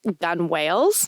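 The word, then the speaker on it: gunwale: I think most people would think it's gu u n e l. That's how I thought it was spelled. It is not. It's spelled gu a l e. Gun whales. They would put the guns there to shoot whales. So that's the gun whales.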